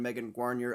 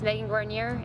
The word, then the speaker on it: Megan Guarnier: used the threat of Lizzie Armistead to send Megan Guarnier up the road solo. I know that's how she pronounces her name because I looked it up. My name is Megan Guarnier.